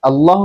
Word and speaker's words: আল্লাহ: অর্থাৎ আল্লাহ শব্দটাকে পুর করে তাফিম করে পড়া হচ্ছে উত্তম এবং সুন্দর আল্লাহ শব্দটাকে সুন্দরভাবে উচ্চারণ করা যায় যদি আপনি পুর করেন।